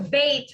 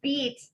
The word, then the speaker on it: Beit: So bait, when you think of the word bait, it's always going to mean house. Beet, like the vegetable, is a daughter, and bean, like a beanie, is a son.